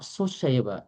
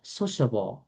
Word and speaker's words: sociable: And this one is not soable. Sociable. Sociable. Sociable. Okay. Not soable.